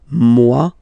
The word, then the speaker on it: moi: Okay, moi, so it's me, moi. So remember this O-E combination gives you the sound wa wa wa, moi.